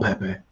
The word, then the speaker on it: Pepe: I was reading the UEFA didn't release another name pronunciations for this tournament, and they said that Pepe's name is supposed to be pronounced Pep.